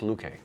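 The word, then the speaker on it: Loueke: here in the pronunciation I think it's Luke a yes and this combination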